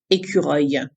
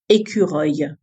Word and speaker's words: écureuil: Numéro 10, écureuil. It means squirrel. Écureuil. Écureuil.